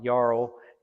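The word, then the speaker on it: Jarl: had become friends with Yarl and uh, and uh, actually his name begins with a J, not a Y, and but it's pronounced with a Y, Yarl.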